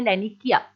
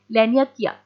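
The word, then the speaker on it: Laniakea: तो हमारी जो गैलेक्सी है वो कौन से सुपर क्लस्टर में आती है, उसका नाम है लैनिकिया। लैनियाकिया, कैसे भी प्रोनाउंस कर सकते हैं आप इसको।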